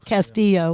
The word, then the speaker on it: Castillo: Felix Kimu, Brian O'Connor and Mike Casti- Castillo. Castillo. Castillo, okay. So, I would I should have gone with the Latino pronunciation.